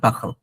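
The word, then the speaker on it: parlent: এই যে দেখেন ইল এল এর সাথে লেখা হচ্ছে পাখ, এল ইএনটি না, ফ্রেঞ্চরা লিটারেলি করে কি ওরা ইএনটিটাকে পুরোটাকে উচ্চারণ করে না, এটা হচ্ছে পাখাল, দিস ওয়ান পাখাল।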